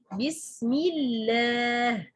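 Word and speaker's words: بسم الله: This lam, we pronounce it as light. Bismillah. Not Bismillah. No. Bismillah. Bismillah.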